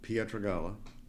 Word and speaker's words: Pietragalla: Well, my name is Pietragalla. That's the proper way to pronounce it.